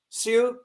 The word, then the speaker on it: Sui: My understanding is the dynasty succeeding the Tang was not the, is it, do I pronounce it correctly? Sui is S-U-I, Sui dynasty.